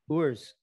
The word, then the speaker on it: Urs: So how do you pronounce his first name? Urs.